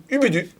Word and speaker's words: Ubudu: Ubudu. Ubudu, et ben voilà, donc j'avais la bonne prononciation, il va falloir vous y mettre.